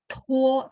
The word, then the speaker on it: 拖: Nah, kalau misalnya teman-teman mau yang praktis, tuo th tulisnya t ya, tuo. Bacanya thuo gitu ya.